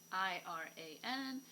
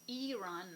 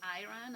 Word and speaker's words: Iran: the ancient country which is the modern-day Iran I ra n which is pronounced Iran not Iran and just like you would pronounce Italy the